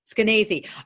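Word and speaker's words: Skenazy: you have met Leonor Eskenazi how do you pronounce her name actually it's canacee okay I have been following her since way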